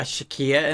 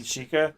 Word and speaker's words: Sheikah: So is Impa a Shakia in this one, or You mean Sheikah? Sheikah? Probably. I mean, in most of the Zelda iterations, like the Sheikah are extinct.